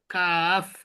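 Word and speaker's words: كاف: কাফ, এটা একবারে normal কয়ের উচ্চারণ, ঠিক আছে? ইংরেজিতে দিলে কি কাফ, কে, শেষে কি আছে? এফ আছে, শেষে কি আছে? এফ। সুতরাং এফ, কাফ শেষে যে দুই ঠোঁটের মাঝখান দিয়ে বাতাস বেরিয়ে যাবে এমন উচ্চারণ হবে। কাফ, কাফ, কাফ, কাফ, কাফ, কাফ।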